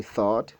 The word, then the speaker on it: though: Le même GH, dans le deuxième mot, though, est carrément ignoré.